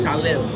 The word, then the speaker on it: Tylil: Talil.